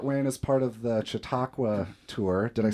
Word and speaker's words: Chautauqua: coming through Fort Wayne as part of the chiaka tour did I say that right yep y